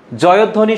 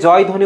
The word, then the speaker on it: জয়ধ্বনি: পরের প্রশ্নটি, জয়ধ্বনি শব্দটির সঠিক উচ্চারণ কি? অনেকে জয় ধ্বনি উচ্চারণ করে কিন্তু হবে হচ্ছে জয়ধ্বনি। কি হবে বলতো?